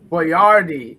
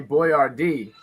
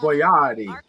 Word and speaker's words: Boyardee: You know, Chef Boyardee is how he actually pronounced it. Can you believe I I used to say Boyardee. But he actually pronounces it Chef Boyardee.